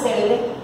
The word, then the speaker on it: célebre: Pues la palabra célebre lleva tilde en la E, en la antepenúltima sílaba es esdrújula.